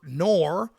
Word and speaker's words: Noir: so I thought because my name is pronounced noir which I usually go by nor by the way but you guys call me it doesn't matter but noir like the conjunction NO are how it sounds